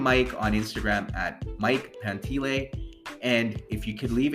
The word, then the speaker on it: Pantile: It's spelled Pantile, but it's pronounced Pantile.